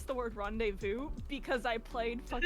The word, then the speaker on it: rendezvous: rendezvous but this was rendezvous which means they acknowledge that the z is silent again like english spelling